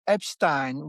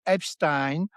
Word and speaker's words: Epstein: Like if you say if in France you say Epstein which is the way I've learned to pronounce it all my life because you know, it's more like kind of the German way and even the Yiddish way it's the way you do it.